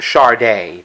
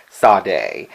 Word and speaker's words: Sade: The artist I'm going to be profiling today is actually, if I understand it, it's pronounced Sade, but everybody pronounces it Sade.